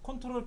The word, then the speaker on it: CTRL: 컨트롤 키를 누르실 때 컨트롤 키가 두 개죠. 왼쪽과 오른쪽에 각각 하나씩 있죠. CTRL이라고 적혀있는 키를 우리는 컨트롤이라고 읽어요.